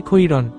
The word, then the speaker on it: খাইরান: মুস্তাকিন বলল, যেহেতু র জবর র, খ জবর খ, সুতরাং উচ্চারণ হবে খৈরন, তবে এটা যেহেতু বিদেশি শব্দ, সেক্ষেত্রে বানান রীতির স্বার্থে বাংলায় খাইরান লিখা হয়।